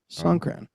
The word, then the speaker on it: Songkran: So Song, just like it's spelled, Song. And then Kran, which is Kran. Songkran.